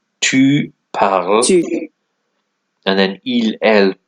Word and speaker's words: parles: But as it says here, don't be fooled, the S in parle is actually silent, so all these forms are pronounced the same.